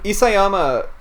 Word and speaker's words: Isayama: we not gonna yeah you care about them isayama that's how you pronounce all right you see yeah um you